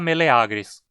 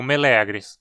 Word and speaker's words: meleagris: no mira e milagres por outro lado o aqui forma a penúltima sílaba e longo então dizemos meleagris e não milagres Oi e o quê